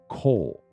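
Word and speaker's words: קוֹל: cole there's two ways to spell it they're both pronounced the same and it's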